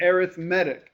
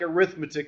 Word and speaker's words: arithmetic: okay it's called an arithmetic sequence and series now the word looks like arithmetic it's pronounced slightly differently arithmetic is a noun